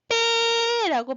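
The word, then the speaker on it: 뱃나루: 그랬을 때 우리 발음을 어떻게 해요? 나루, 그치? 빼라고 발음해요. 즉, 배에서 빼로 뭔가 소리가 더 생겨요.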